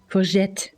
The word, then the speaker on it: courgette: zucchini from then and we pronounce it like the French courgette courgette I I wondered earlier